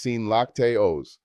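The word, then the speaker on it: sin lácteos: No dairy is sin lactios pronounced seen lactos.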